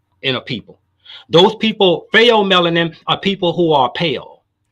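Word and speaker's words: pheomelanin: melanin is a default or or effective gene fail melanin is spelled p-h-e-o you can look it up eu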